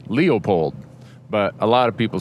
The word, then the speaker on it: Leopold: And then the conservationist, the father of wildlife management, Aldo Leupold, is like Leo, the lion, Leopold. But a lot of people say it fast, and it sounds like Leopold.